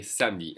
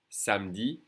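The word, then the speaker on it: samedi: is pronounced s okay Sami and the E is really not pronounced at all s Sami and the last day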